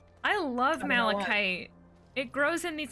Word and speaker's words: malachite: killing me Smalls so malachite as a like a mineral also in in Monster Hunter and I have until recently mispronounced it as Mite for some reason I love malachite it grows in these